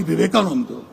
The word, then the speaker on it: Vivekananda: Of course, he got one thing wrong. It is pronounced Swami Vivekananda, but Hindutva wasn't created.